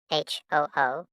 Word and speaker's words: Hu: HOO, pronounced like hu, which is associated with the spleen.